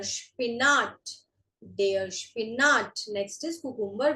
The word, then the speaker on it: Spinat: SP is Sp. Sp. So this is der Spinat.